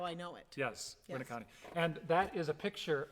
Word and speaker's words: Winneconne: He was the mayor of Winneconne, which is pronounced Winneconne with the emphasis on the first syllable.